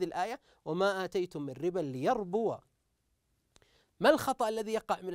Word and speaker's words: ليربو: وما اتيتم من ربى ليربو ما الخطا الذي يقع من البعض حينما يقرا هذه الكلمه نجد انه لا ياتي بحركه الواو الواو الواو ليربو البعض قد يسكن هذه الواو فنقول انتبه هذه الواو مفتوحه